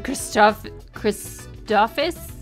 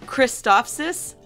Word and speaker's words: Christophsis: Okay, Goldie said, when he negotiated on Christophus? I can never pronounce that. How do you say it? I can never pronounce it. Christophsis.